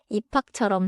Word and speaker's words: 입학: 입학은 피 받침 뒤에 히웃소리가 와서 입학처럼 세게 나요.